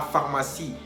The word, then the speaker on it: pharmacie: También comentamos que cuando vemos juntos o juntas las dos letras, la P y la H, obtenemos el sonido F. Por ejemplo, la pharmacie, que significa la farmacia.